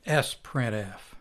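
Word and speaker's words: sprintf: complicated example let's write our own version of s printf which is the sister of f printf s printf which is sometimes pronounced sprint f is very much like its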